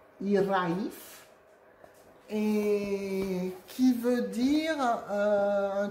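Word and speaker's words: hiraeth: Et en fait, c'est un mot gallois qui se prononce Iraif et qui veut dire un truc genre nostalgie.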